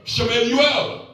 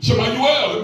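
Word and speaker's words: שמואל: Shemuel. That's how you say it in Hebrew. Shemuel.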